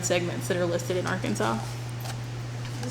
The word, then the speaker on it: Arkansas: it, but by law, we are Arkansas with a W at the end, but we are spelled with an S.